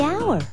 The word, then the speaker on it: hour: owner the animal the hour wait h is not a vowel sound it's a consonant sound but it's not the first sound the h is silent the hour but what